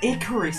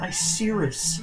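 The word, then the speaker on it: Icirrus: hear the Team Rocket battling music it's not Icarus it's pronounced I serious are you freaking serious yes damn it Pokemon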